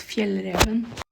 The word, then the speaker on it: Fjällräven: It's pronounced Fjällräven.